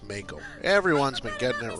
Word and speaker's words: Mako: pronounced Mako.